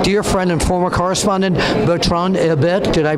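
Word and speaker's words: Bertrand Hébert: co-authored with my dear friend and former correspondent, Bertrand Herbert. Did I pronounce that right? Who? Bert Herbert. Bert Herbert, yeah.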